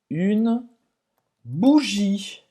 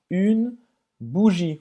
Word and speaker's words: bougie: Esse é o som do U em francês e como a letra U em português. U, bougie. E você não vai pronunciar esse E no final.